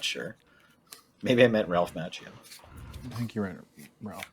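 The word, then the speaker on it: Macchio: Actually, it's pronounced Mchio, but um go off king.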